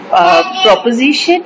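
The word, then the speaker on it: proposition: पे ठीक करना चाहूंगी, दैट इज अ प्रोपोजिशन। हम लोग अक्सर लॉ में उसको प्रेपोजिशन कह देते हैं। तो प्रेपोजिशन इंग्लिश ग्रामर का पार्ट है, जो कानून में हम पढ़ते हैं या हमारे एग्जाम्स में हमसे पूछी जाती हैं वो प्रोपोजिशंस होती हैं।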